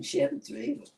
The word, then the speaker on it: Chivas Regal: Oh, some Chevy Regal. So who? I think it's called Chivas Regal or Chivas Regal. Chevy, well, some people pronounce it differently, you know.